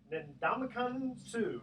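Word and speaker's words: Ndamukong Suh: Ndamakong Suh, is that how you pronounce it? Yep.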